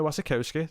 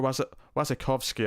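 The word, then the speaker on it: Wasikowska: Tom Holland, Jason Clarke, Sebastian Stan, Bill Skarsgård, Robert Pattinson, Mia Wasikowski. There's a lot of people in this. Or Wasikowski, I think is how you say her name properly, actually.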